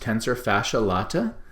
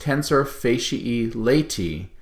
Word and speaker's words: tensor fasciae latae: good it's correctly pronounced tensor facia e laity and that's because those a e's on the end of those words should be pronounced as an e sound now the tensor facia e laity means that this is